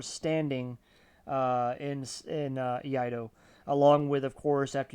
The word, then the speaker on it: Iaido: So, if you don't know what Io is, it's spelled I A D O Eido.